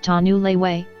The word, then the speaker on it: Tanuluet: washoe tribe has presented the name tanuluet pronounced tanu leiwei which in native language